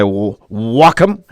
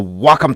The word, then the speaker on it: Wacom: By the way, that's how you pronounce it, guys. It's not Wacom, it's Wacom. When I was sponsored by them, that's how they said it. It's like Sock'em.